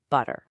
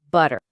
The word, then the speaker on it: butter: Let's take a super common word like butter. Now, a lot of learners will pronounce that T sound really clearly right in the middle, butter. But in fast, natural everyday American speech, something kind of magical